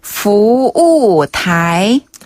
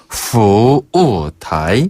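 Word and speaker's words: 服务台: 그 다음에 타이는 대만 할 때, 타이완 할 때 그 타이랑 발음이 네. 똑같아요.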